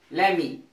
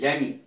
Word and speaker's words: lemme: लेमी, लेमी इसकी short form होगी LEMME, LEMME, लेमी।